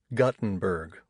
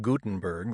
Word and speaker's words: Gutenberg: My dad pronounces it Guttenberg, like a punch in the gut, instead of Gutenberg, like the Bible.